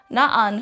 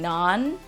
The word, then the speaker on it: na'an: In the word na'an, you'll notice the glota symbol in between the two A's, so that indicates an abrupt stop. So rather than just saying nan, it's na'an. Na'an.